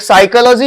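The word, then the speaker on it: psychology: एक साइकोलॉजी होता है जो पी से स्टार्ट होता है, एक निमोनिया होता है वो भी पी से स्टार्ट होता है ना।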